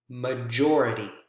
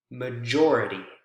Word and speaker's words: majority: Major, majority, major, majority. You can see how it shifts over to the next syllable, again, right before the suffix.